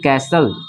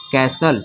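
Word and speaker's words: castle: जाएगा इसको पढ़ेंगे ठीक है ना इसको पढ़ेंगे कैसल इसको क्या पढ़ेंगे कैसल टी साइलेंट हो जाएगा इसको पढ़ेंगे कैसल ठीक है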